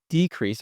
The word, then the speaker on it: decrease: Anyway, so when it's a noun, we say decrease.